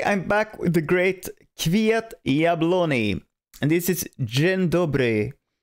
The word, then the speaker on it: Kwiat Jabłoni: And Kwiat Jabłoni, I heard you should say it like a Y and not like a J, so not Kwiat Jabłoni, it's Kwiat Jabłoni.